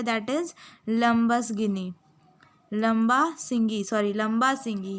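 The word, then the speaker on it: Lambasingi: लंबा सिंगी या it's pronunciation is लंबा सिंगी.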